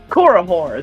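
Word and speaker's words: Korihor: a little terrified especially because there's my plug korahore the band korahore it's spelled k-o-r-i-h-o-r they're dope as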